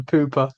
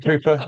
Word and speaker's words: pupa: At this point, or the pooper, the pupa, yeah, which is how I actually mispronounced it all the way through the High Brown Fertility episode.